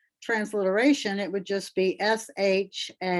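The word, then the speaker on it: שבת: But with the dogish in the middle, basically it's Shab, shab, and then bat. So basically the B is attached to both syllables. So that's why we get the spelling for Shabbat with 2 B's.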